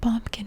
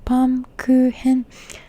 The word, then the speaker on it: Baumkuchen: I called it bumpkin for the longest time. Baumkuchen. I don't actually know how to say it, but in Japanese, it's written in katakana baumkuchen, and I think it's baumkuchen.